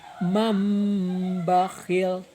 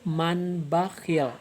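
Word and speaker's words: مَنْ بَخِلَ: Dibacanya mambakhil, enggak dibaca manbakhil atau mangbakhil, tapi pakai m.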